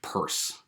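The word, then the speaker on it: Peirce: by c s purse that's p-e-i-r-c-e and we're pronouncing it purse okay um so don't get that wrong and um uh in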